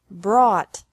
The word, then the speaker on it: brought: is the same bring brought brought buy bought bought catch caught caught fight fought fought seek sought sought teach taught taught think thought thought remember that the g is silent in these verbs verbs with three different